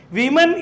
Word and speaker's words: women: വിമൻ എന്ന് എഴുതുമ്പോൾ WOMEN, singular വുമൺ എന്ന് പറയുമ്പോൾ WOMAN ആണ്. അവിടെ ഉ എന്ന് തന്നെയാണ് ഓയ്ക്ക് പ്രൊനൗൺസിയേഷൻ. വുമൺ, ഓയ്ക്ക് ഊ എന്ന പ്രൊനൗൺസിയേഷനാണ്. നേരെ മറിച്ച് അതിൻ്റെ പ്ലൂറൽ എടുക്കുമ്പോൾ വിമൻ ആവും. സ്പെല്ലിങ് O തന്നെയാണ്, WOMEN ആണ്. പക്ഷേ നമ്മൾ O എന്ന W ഉച്ചരിച്ച് കഴിഞ്ഞാൽ E നെല്ലി ഉച്ചരിച്ച്, അപ്പോൾ ഓയ്ക്ക് എന്തായി ഉച്ചാരണം? E.